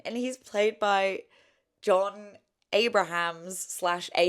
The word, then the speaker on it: Abrahams: out loud because yeah, the person commented and they said it is Abrahams. But it's like, I think I've heard people say John Abrams. I just feel like whenever Americans say it, there is that like midsection Collapsing. that they kind of just take But out. specifically this actor, I feel like I've heard Abrams, yeah.